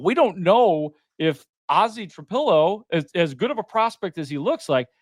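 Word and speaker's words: Trapilo: it's like and we I got to remember how to pronounce that. Are we saying that right? Is it Trapo? Is it Trapillo? It's Trapillo.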